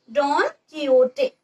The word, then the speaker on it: Don Quixote: Look at the pronunciation. It is Don Quixote, a Spanish ingenious gentleman who had infatuation for